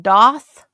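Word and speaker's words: daith: Um, it's spelled Dave, but it's pronounced Doth.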